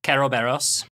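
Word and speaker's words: Kerberos: more or less yep kobos kobos uh if it seems like there it seems like a weird cus dealio yeah that that's the Japanese pronunciation of Cerberus yeah which also then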